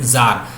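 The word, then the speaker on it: czar: Russia जो थे, ये जार जो थे, सी इज अ साइलेंट जार।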